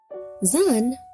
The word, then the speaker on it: Zan: Zan, pronounced Za, is the modern equivalent of Z, Zeta in Greek, and Zayin in modern Hebrew.